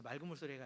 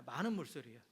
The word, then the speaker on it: 많은 물소리: 그래서 맑은 물소리라고 읽는 분도 계신데 맑은 물소리가 아니라 많은 물소리예요.